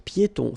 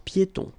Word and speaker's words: piétons: Un passage pour piétons. Final S here, not pronounced, and then final not pronounced. un passage pour piétons.